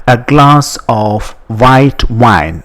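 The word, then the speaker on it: eau: in French it is called o just like English o that is written as e a u but you just say o o I would like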